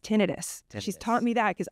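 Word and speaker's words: tinnitus: oh okay because a lot of people have tenius is the ringing of the ears after an accident so do you know it's pronounced tenus she's taught me that cuz I would say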